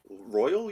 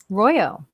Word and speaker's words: Royo: Royal, you're saying? Royo. Royo or Royal? Royo.